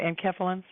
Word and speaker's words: enkephalins: I know we have endorphins, and then what are these enkephalins? Yeah, am I pronouncing it right? Enkephalins.